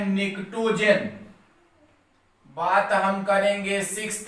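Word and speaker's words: pnictogen: इसे कहा जाता है आपका पी साइलेंट है, इसे कहा जाता है निक्टोजन।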